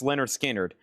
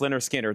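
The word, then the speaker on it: Lynyrd Skynyrd: Pronounced Leonard Skard. Uh let's see here. Pronounced Leonard Skinner.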